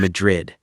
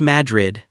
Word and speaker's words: Madrid: About halfway along that road, you'll find Madrid. And before I say another word, it's pronounced Madrid, not MADRID.